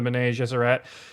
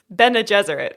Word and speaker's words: Bene Gesserit: Bene Gesserit, right? Bene Gesserit. Yeah, I always wanted like Frenchify it, and it doesn't work.